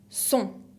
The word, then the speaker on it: sont: Y por fin, la troisième personne du pluriel, il ou elle, que la S no se pronuncia, sont, con la T final que no se pronuncia.